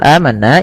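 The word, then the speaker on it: آمَنَّا: Pada lafal amanna ini ada bacaan namanya mad badal. Mad badal. Madal. Apa itu mad badal? Mad badal adalah mad yang terjadi karena adanya hamzah bertemu dengan huruf mad. A bertemu dengan huruf mad berupa alif. Maka cara membacanya dipanjangkan dua harakat. Panjangkan sepanjang dua harakat.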